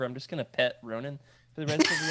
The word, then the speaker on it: Ronin: Ronin.